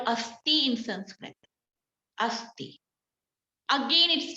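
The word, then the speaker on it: अस्थि: Then asti, A-S-T-H-I, asti, which called bone.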